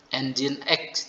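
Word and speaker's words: nginx: Nomor satu itu bagaimana Pak bacanya katanya ya, itu engine sih ya. Engine X itu ya, mesin.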